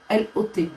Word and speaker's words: Lot: intéresse ou pas non c'est l'eau l o t il y a pas de E à la fin lot lot ok ça se prononce lot j'ai compris j'attends les